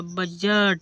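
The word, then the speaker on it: budget: डी जी ई टी देखो जी से पहले डी है इसलिए यहां पर डी साइलेंट हुआ बजट बजट means बजट ridge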